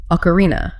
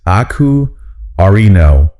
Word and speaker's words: ocarina: The pronunciation is aku-arino. The stress is on that R-E-E. Ocarina.